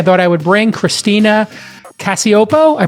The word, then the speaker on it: Cacioppo: I thought I would bring Christina Cacioppo. I pronounced it correct, I'm hoping, Christina?